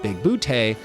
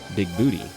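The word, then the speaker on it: Bigbooté: And then there's Christopher Lloyd's John Big Booty, running around correcting everyone that his name is pronounced Big Booty, not Big Booty.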